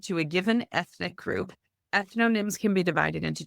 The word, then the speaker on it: ethnonyms: Ethnonyms. Ethnonyms.